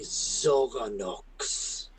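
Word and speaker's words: Xoranox: need to address you you will call me zorox can you spell that uh zorox is x o r a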